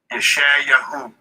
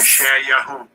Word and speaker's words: Yeshayahu: Yeshayahu. That's Yeshayahu.